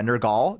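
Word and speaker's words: Nergal: It's spelled with an E instead. Yeah. Nurgal.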